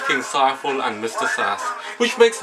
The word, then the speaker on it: Saiful: screen speaking of screams my name is seifel rhymes with eiffel trifle delightful i always have to introduce myself like that to people who don't know me or get my name wrong it's not saffalls safe or sofa sipho or worse faizal